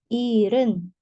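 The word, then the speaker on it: 일흔: nah Yes nah 70 Iren Hnya tidak dibaca jelas Ir misal 73 Ir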